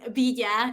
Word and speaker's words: Villa: butcher your last name uh well villa is how most people uh i guess pronounce it in english uh it's vidya in spanish i guess don't worry don't worry